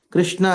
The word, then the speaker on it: Krishna: Krishna has got 2 syllables, Krish and Na.